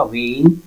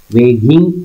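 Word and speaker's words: weighing: Okay, now वेइंग his words, उसके शब्दों को वजन देते हुए, वेइंग, ओके, इसका प्रोनाउंसिएशन होगा वेइंग, वेगिंग, ऐसा इस तरीके से नहीं पढ़ेंगे क्योंकि इसमें जो GH है ये साइलेंट रहेगा।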